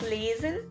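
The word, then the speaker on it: lesen: e s e n that's lasin l a s a n i'm pronouncing it right now in german which means to read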